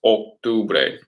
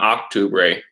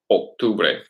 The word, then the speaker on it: octubre: Remember, in Spanish, it's octubre, octubre, not octubre, octubre. Okay, it's the O's in Spanish make an O sound, octubre.